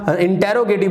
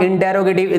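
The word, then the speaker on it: interrogative: Okay, next है आपका जिसको आप इंटेरोगेटिव बोलते हैं, इट इज नॉट इंटेरोगेटिव, this is इंट्रागेटिव, this is इंट्रागेटिव, this is इंट्रागेटिव, this is इंट्रागेटिव।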